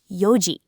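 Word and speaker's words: 四時: 4:00 is yoji. The yol reading.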